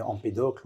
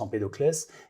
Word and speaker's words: Empédocle: Oui, vous seriez surpris, Philippe, de savoir que ça a commencé 444 ans avant Jésus-Christ avec un monsieur qui s'appelait Empédocle, ou parfois on prononce Empédoclès, et qui étudiait il avait sa classification du comportement humain déjà.